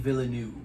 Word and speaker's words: Villeneuve: My first recommendation is a movie by Denis Villeneuve, how you pronounce his last name. Denis Villeneuve.